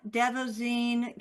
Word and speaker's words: Devozine: Is that Devozine, Kathryn? Yes. That pronounce that?